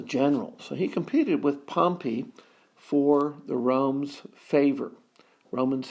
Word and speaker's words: Pompey: Pompey now remembered it to pronounce that properly its Pompey not Pompey Pompey was a city south of Rome that got buried with a big eruption from Mount Vesuvius Vesuvius excuse me Vesuvius and